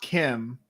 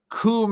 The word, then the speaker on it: Kum: Heyoon is like, and it's not Kim, it's Kum Heyoon.